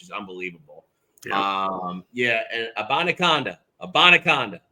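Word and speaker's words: Abanikanda: unbelievable um yeah and abona abaca that is how you say it we will have it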